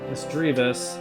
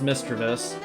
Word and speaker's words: Misdreavus: philosum Sudowoodo Politoed jump love slow King mischievous misdreavus it's not pronounced mischievous uh I'm so bad at doing this